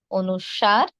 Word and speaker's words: অনুস্বার: অনুষ্কং, অনুস্বর এভাবে নয়, কি হবে? অনুস্বার।